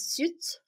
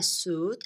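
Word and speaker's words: süt: know that in Turkish the word milk means suit yes suit this is how we say it so abys businessman wore a suit and went to buy milk milk is suit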